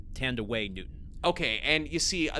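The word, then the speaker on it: Thandiwe: but uh this is the first film that tand away Newton uh uses the she said that when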